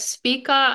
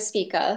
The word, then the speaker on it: Spica: Is it Spica or Spica? I'm pronouncing it Spica. I think that's correct. I've heard other people use that.